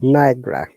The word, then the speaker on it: Niagara: Niagara, Ni- how to pronounce? Niagara.